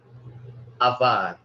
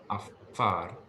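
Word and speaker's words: עָפָר: Afar. Afar. Var. Yes. I think you're wanting to pronounce the pe as a V sound, but it is pronounced as an F sound. So it's not avar, but afar.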